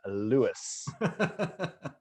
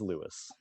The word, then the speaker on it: Lewes: here to tell you that the name is louis and so we were like there you have it it is lewis not a doubt and you were involved for